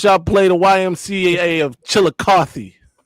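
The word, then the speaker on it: Chillicothe: How many times y'all play the YMCA of Chilikothy? Hey, that's how you pronounce that.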